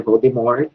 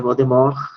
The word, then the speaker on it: Voldemort: verdade, eu descobri que a pronúncia não é Voldemort, não tem o T, né? A pronúncia seria Voldemort, né?